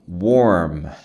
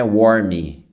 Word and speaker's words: warm: Warm não é warmy.